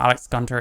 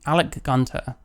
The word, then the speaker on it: Alec Gunter: that this is what Alex Gunter is doing so let's let's see sry I need I need to stop saying his name wrong Alec Gunter listen man I'm the